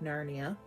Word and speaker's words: Narni: citizens of the neighboring town of narnia sounds like narnia but it's spelt narnie tried to kidnap her